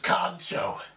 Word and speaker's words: カンチョー: it today's word is known as koncho pronounced exactly the way it's spelled kcho now the direct translation